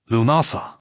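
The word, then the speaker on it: Lughnasadh: Lumnasad pronounced Lumasa, the Celtic festival honoring L, the multiaceted god of light, craftsmanship, and war.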